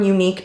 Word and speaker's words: Eunique: play like I mentioned before these are from unique beauty it's spelled e-u-n-i-q-u-e again out of the UK these